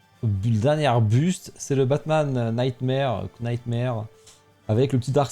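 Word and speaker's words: Knightmare: Prononce pas le cas, s'il te plaît. Ouais, après je dis le cas après j'ai. Ouais, mais comment tu fais alors si tu dis Nightmare, tu fais comment sans le cas ? Tu dis Nightmare, je dis pareil.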